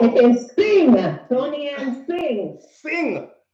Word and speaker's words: Singh: Singh? Like how you sing song? Yes. Right.